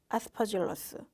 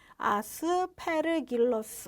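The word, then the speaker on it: Aspergillus: 뮤코속, 뭐 아스퍼질러스, 뭐 혹은 저는 이렇게 발음하는데 아스페르길러스, 뭐 이렇게도 발음해요.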